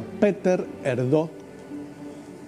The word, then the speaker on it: Péter Erdő: Bueno, ahí está el cardenal que se pronuncia Péter Erdő, que es húngaro, vivió toda su vida bajo